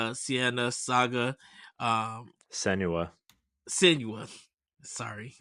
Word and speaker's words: Senua: Even Hellblade 2, Sienna Saga, um, Senua. Senua. Sorry, Senua.